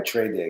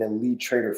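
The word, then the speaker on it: TradeDay: saying it wrong too it looks like this is like an elite Trader funding account right because it starts with El but it's not it's trade day is this going to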